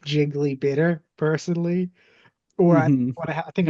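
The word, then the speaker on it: Gigli: to watch that movie jiggly that like she's in she and Ben affle Oh you mean jiggly it's pronounced like really oh I didn't know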